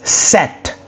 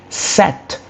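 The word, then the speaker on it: sept: Um you go to seven which is set set. S E P T that is a spelling of set. So you can pronounce that on your own to obviously master it.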